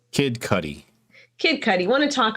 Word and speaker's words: Kid Cudi: kid cup how do you say his name kid cudi kid cudi want to talk about that yeah